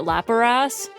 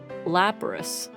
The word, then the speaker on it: Lapras: Whenever I was ever since I was a kid, I always pronounced it Lapras, and no one ever corrected me until I became a streamer.